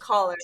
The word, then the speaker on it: Coller: And you pronounce it Miss Coller? Am I correct? Caller. Yeah. Okay. Caller. Yeah.